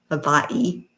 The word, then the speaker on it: Hawaii: It's all Hawaii. Havaii, if you want to pronounce it correctly.